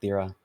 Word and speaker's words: Thera: It's actually pronounced Thera.